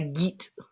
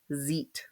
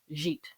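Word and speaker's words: gîte: It's pronounced zit with a z sound as in vision. So zit.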